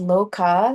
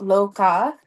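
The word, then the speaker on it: Lokah: And so how you say it is that loca the is kind of like a breath like loca loca.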